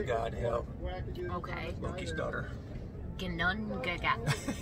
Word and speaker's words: Ginnungagap: Ginnungagap. Gunungagap. Gunungagap. Gunungagap. Sometimes the G is pronounced like a Y almost at the beginning of words.